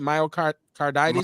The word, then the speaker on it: myocarditis: reported cases of myocard how you say it myocarditis myocarditis okay myocarditis right heart inflammation you could